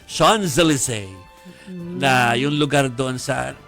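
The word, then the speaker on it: Champs-Élysées: ng pagpo-pronounce ano yung sa atin it's Chams Elise pero kapag nandon ka it's Sean Zelise na yung lugar doon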